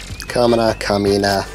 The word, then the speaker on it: Kamina: Kamina. You gotta pronounce things right.